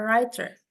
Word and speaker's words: writer: Okay, next we have a writer. Writer. Di sini dibacanya tanpa W, tanpa W-nya. Writer, bukan writer, tapi writer. W-nya silent.